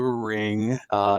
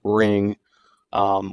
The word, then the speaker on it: Ringu: titled ring in Japan it's ringu I believe that's how you say it um I actually